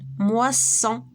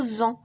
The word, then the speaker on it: moisson: جات entre deux voyelles باش ما نطقوهاش Z ونطقوها S, on double la consonne, كنديرو 2S. Exemple, moisson. moisson هنا وكنديرنا غير وحده غنقراوها moisson.